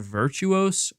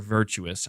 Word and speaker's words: Virtuos: I've heard other people pronounce it Virtuos, but I'm just going to say Virtuous because it just, I don't know, Virtuous Mission is one of the missions, and it's the name of the mission in Metal Gear Solid 3.